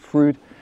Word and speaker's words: Fryd: And that's what's led me to work with app developers who are from Germany, actually, who've created this app, spelt Frieden, pronounced Frood.